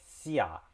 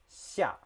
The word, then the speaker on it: 下: So like I mentioned before, the X sound is somewhere in between S and SH.